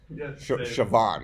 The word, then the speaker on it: Siobhan: say her name I can't spell her name Siobhan right I'll give you five hundred guesses that spell that name you're not getting it right unless